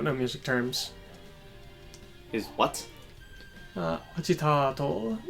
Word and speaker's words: agitato: Agitato is how it's pronounced there. I thought it would be like Azastato or something.